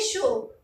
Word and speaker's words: chaud: है तो हम बोलेंगे शो। याद रखना है आपको, इसको हमने शो प्रोनाउंस किया, इसके लास्ट में जो D आया उसको हमने साइलेंट रखा, उसको हमने प्रोनाउंस नहीं किया।